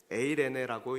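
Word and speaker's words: εἰρήνη: 여러분, 여기서 평안으로 번역된 헬라어가 에이레네인데, 에이레네라고 읽는데 이 에이레네는 히브리어로 샬롬이고 이 헬라어로는 에이레네예요.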